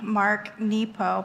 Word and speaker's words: Mark Nepo: to Listen, by the brilliant, poetic, and deep Mark Nepo.